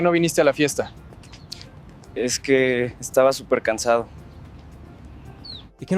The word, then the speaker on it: es que: Blend the es and the que into a single quick burst. Es que.